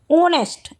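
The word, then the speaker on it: honest: लेकिन ऑनेस्ट H silent है। Sound किसकी आ रही है? ओ की।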